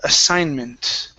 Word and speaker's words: assignment: Let's go to the word assignment. Okay, so here this G is not going to sound.